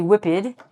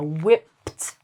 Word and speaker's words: whipped: don't want to say whipped. We're going to spell it with an ED, but it's going to be sounded like a T. So whipped off.